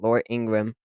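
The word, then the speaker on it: Laura Ingraham: It's Laura Ingram. That's how you say it, Laura Ingram.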